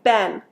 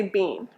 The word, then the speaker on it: been: have you been good now if you're using british english you might it might sound more like being but americans say ben so if you're talking to an american you'll hear ben b-e-e-n we don't say bean and the meaning how